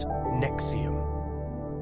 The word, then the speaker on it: NXIVM: In 2003, Executive Success Programs was reorganized under a new umbrella organization called NXIVM, pronounced Nexium.